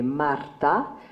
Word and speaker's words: Marta: And of course, in the Italian script, you pronounce it completely differently, so it doesn't rhyme. So they hadn't seen the joke in this. In other words, her name would be Marta, and his name would be Arturo.